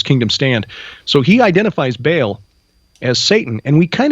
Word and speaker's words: Baal: spirits the warriors of Baal. Or for you scholars out there just so you know I know how to say it. It's but all there's a glottle stop in there.